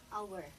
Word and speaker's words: hour: Ito guys, yung H, silent H po yan pag nag-pronounce ka ng word na ganito. So hindi mo siya ipo-pronounce na ha-nest o kaya hour. Okay? So ipo-pronounce mo siya as honest at saka hour.